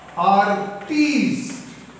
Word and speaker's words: artiste: artist how do you pronounce this this is pronounced as our tease a-r-t-e-s-t artist an actor a dermatist a